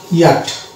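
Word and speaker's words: yacht: Next word আমরা উচ্চারণ করবো ইয়াট, ই আট। এখানে সিএইচ চ উচ্চারিত হবে না, এটা সাইলেন্ট থাকবে এবং সর্বনিম্নে যে ওয়ার্ডটি রয়েছে সেটা হচ্ছে বম।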